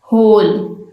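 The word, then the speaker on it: whole: होल, एच से start हो रहा है ये।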